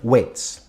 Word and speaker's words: weight: or plural more often, weights. Now, I'm not saying, oh, don't go on, W-A-I-T, weight. No, it's the other weight, W-E-I-G-H-T, with the silent G in the middle.